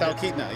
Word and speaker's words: Talkeetna: We are here in Talkeetna. Am I saying it right? Talkeetna, yes.